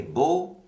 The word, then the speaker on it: beau: Et vous avez sûrement remarqué que le A-U dans beau, ça sonne comme un O en anglais.